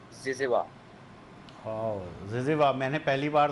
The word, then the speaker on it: zyzzyva: अच्छा, प्रोनाउंसिएशन क्या है इसकी, ये भी बता दो। जिज़वा।